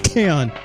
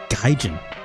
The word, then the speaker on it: Kaon: It's Kaon. I keep reading his Gaijin.